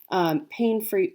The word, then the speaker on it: Paine: If you're looking for them online, Pain is spelled Paine.